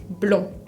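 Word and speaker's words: blond: palabra lomo blog blog que significa rubio se escribe con una de final que nunca se va a pronunciar blog otra letra que no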